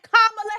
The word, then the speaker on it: Kamala: Kamala Harris, that's right. That's how you say my name.